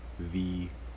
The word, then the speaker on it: Vuity: If you're looking for it, the brand name is Vuity. It's spelled V-U-I-T-Y.